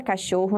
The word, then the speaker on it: cachorro: Lá na palavra cachorro, nós temos a sílaba xor destacada. Bom, se nós contarmos da direita para a esquerda a partir da última sílaba, nós veremos que ró vai ser a última sílaba, xor será a penúltima.